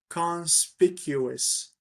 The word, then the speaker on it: conspicuous: is hard I think the pronunciation of it is is a little bit hard cons speak ous conspicuous so conspicuous is something